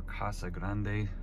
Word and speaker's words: Casa Grande: auto parts down in casa grande or casa grande depending on how you want to pronounce it decided to bring the